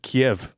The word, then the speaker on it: Kyiv: 1138 saying um blake that's how the ukrainians pronounce the name of their capital kyiv and whatever because i've actually i've heard kiev from lots of people in ukraine so maybe it's maybe it goes both ways who knows yeah maybe